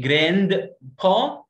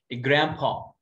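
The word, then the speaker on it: grandpa: جراند با غلط، قلت جراند با غلط، ما اسمها ايه؟ جرامبا جرامبا، ادي نفسك الدرجه لو قلتها جرامبا جرامبا.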